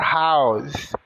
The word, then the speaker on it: house: então sua casa your house seu carro your Car casa o h tem o som de r o o de a o u de u o s de z i então casa House sua cheira s com